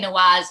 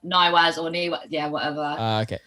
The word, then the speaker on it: Nawaz: you um no but i i say nawaz or naiwas i think it's